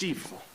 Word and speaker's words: Stifel: It's spelled stifle, but it's pronounced Stifel.